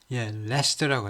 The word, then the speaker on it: Leicester: Leicester. 레스터라고 하네요. 레스터, sorry. 라이도 아니고 리도 아니고 레스터라고 발음합니다.